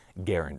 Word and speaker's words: Garand: so I didn't see Garand actually put out a note and he asked that his preferred way of his name being pronounced was Garand as in errand so welcome to a